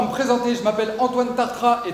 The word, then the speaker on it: Tartrat: Je m'appelle Antoine Tartra, et Tartra, c'est un palindrome. Ça s'écrit dans les deux sens, en fait.